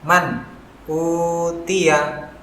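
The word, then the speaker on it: مَنْ أُوتِيَ: Maka huruf nun dibaca dengan jelas man. Begitu juga dengan huruf hamzah yang berharokat dhammah harus dibaca dengan jelas u. Jadi cara membacanya adalah man utiya.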